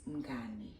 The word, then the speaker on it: mngani: So the word is friend in Zulu, which is mngani. Mngani. Mngani. Fabulous. Yes. Mngani. Yes. And how do you spell that, friend?